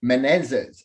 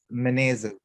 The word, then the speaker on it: Menezes: uh everybody to menezes have i pronounced your last night name correct menezes s is that correct uh yeah it's meneses yeah i'm close i'm close